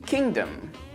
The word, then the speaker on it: kingdom: is pronounced foreign now we do pronounce the G in Kingdom but in Rapid speech it often gets dropped so you'll hear she